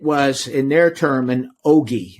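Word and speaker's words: ogee: And it was, in their term, an ogi. It's spelled O-G-E-E, ogi.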